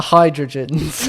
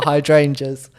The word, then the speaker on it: hydrangeas: My best one being the hydrogens. Yes. instead of the hydrangeas.